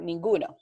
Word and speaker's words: ninguna: is we can say the word ninguna when the G is like Google good over here is who